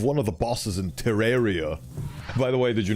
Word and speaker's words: Terraria: out all right like terrarium yes like terrarium I never knew that but I went to the Wikipedia of Terraria and made the click the little pronunciation icon and he said it Terraria so it must be true Wikipedia never lies ow